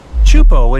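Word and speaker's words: Teahupo'o: Chupo in Tahiti also has some of the heaviest waves in the world, breaking over a shallow reef and creating intense barrel rods.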